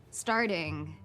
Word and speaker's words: starting: I telling you this because of the word starting I'm starting notice that the second T sounds like that flap t or fast D sound we talked about the